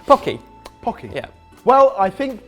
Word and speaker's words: Pocky: forgiven for this one Pocky Pocky Pocky Pocky not pokey pokey Pocky Pocky yeah well I